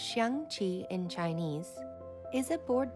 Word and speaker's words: Xiangqi: Chinese chess, pronounced Xiangqi in Chinese, is a board game sometimes also referred to as elephant chess.